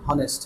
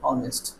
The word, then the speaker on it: honest: লেটারটা থাকলে কি হবে, হনেস্ট হবে না, এখানে উচ্চারণটা কি হবে, অনেস্ট, অ সাউন্ড, অনেস্ট, আমরা হনেস্ট বলবো না, তাহলে এটা হচ্ছে বাদ,